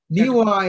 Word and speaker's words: Niwot: Niwa is the more correct pronunciation, as I understand it, from a native speaker.